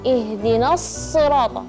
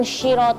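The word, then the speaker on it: اهدنا الصراط: Terus perhatikan makhraj huruf shad. Ihdinasirat ya. Bukan syirat atau sampai ada gerakan e syir iya gitu ya.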